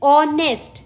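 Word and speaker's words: honest: जीएच हो गया फिर ऑनेस्ट इसमें हम ओ से स्टार्ट कर रहे हैं एच साइलेंट है ऑनर इसमें एच साइलेंट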